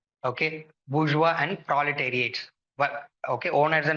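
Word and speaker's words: bourgeois: they are called as bua okay bua and proletariat okay owners and non workers okay KL marks talks about okay French word bua okay you have to pronounce it bua okay and proba darate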